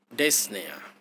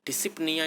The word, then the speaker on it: dyspnea: यहाँ पर लिखा है टू रिलीव डिस्निया, स्पेलिंग है DYSPNEA। डिसिप्निया इसे नहीं बोलते हैं, इसे बोलते हैं डिस्निया। प्रोनाउंसिएशन इसका है।